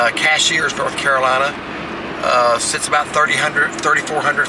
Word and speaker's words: Cashiers: Some people say Cashiers. I'm going to pronounce it the way it's spelled. Cashiers, North Carolina.